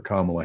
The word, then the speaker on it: Kamala: Kamala, whatever, It's however pronounced, you it's actually is pronounced Kamala.